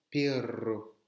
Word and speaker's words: perro: Sachez que un simple R et un double R ne se prononcent pas de la même manière. Pero, pero, ça veut dire mais je veux bien ça, mais je ne ferai pas ça. Pero, s'il y a deux R, perro, un perro, un chien.